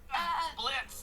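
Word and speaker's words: Blitzø: Blitz? The O is silent.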